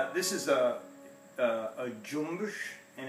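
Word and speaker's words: cümbüş: This is a cumbus, and it's that's how you pronounce it in Turkish, and it's actually it's spelled cumbus, which it has.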